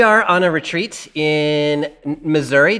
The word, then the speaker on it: Missouri: We are on a retreat in Missouri, just outside or Missoura, as I'm told it can be pronounced.